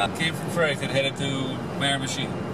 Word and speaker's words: Miramichi: Came from Fredericton, headed to Miramichi. Miramichi, this is the pronunciation. Miramichi, et voilà.